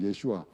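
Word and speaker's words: ישוע: 예슈아 하는 사람인데 어 예수는 헬라식 발음이 아아 히브리어 발음으로 예슈아 예슈아 아고 하는 사람인데 어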